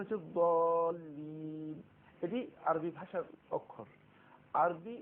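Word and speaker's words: الضالين: দ্বিতীয় পয়েন্ট হচ্ছে দোয়াল্লিন এবং দোয়াল্লিন এই দুটি শব্দ কাছাকাছি, কিন্তু এর সঠিক উচ্চারণ হচ্ছে দলিন।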